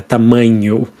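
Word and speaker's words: tamanho: about size of clothing TAMU means size be careful with the NH there TAMU we have small p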